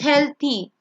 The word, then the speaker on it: healthy: Usually when th is there, it's th, so it's healthy.